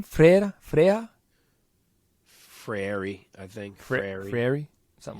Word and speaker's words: Freire: Frary, I think.